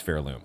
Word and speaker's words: Pharloom: And yes, I know somebody in the comments pointed out to me that apparently there's a different pronunciation that um most everybody else uses. I'm sticking with Fairloom.